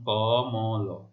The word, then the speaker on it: কমল: অ রয়েছে, ক মানে অ, তাহলে মধ্য অ এর উচ্চারণ কেমন হবে? মধ্য অ এর উচ্চারণ এই যে ম এর সাথে যে অ রয়েছে তার উচ্চারণ ও এর মতো হচ্ছে কমল।